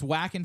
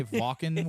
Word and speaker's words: Wacken: like iron M's headlining is it wackin or Von uh so it's wack whing for Americans if you say Ving which is how the Germans would pronounce it they immediately go it's